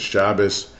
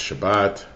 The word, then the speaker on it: Shabbat: Hebrew is pronounced slightly differently, like the last letter of Shabbat for Ashkenazim is Shabbos, and for Sephardim it's Shabbat.